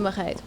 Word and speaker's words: Marreiro: Can you pronounce it one more time again? Marreiro.